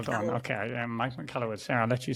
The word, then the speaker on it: Michalowicz: So you were practicing the pronunciation. So the author, which is Mike Michalowicz. well done. Michalowicz. Okay. Yeah, Mike McCallowitz.